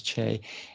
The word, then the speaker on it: Chaix: asked you earlier and how do you say your middle name and you told me it's Che and where does that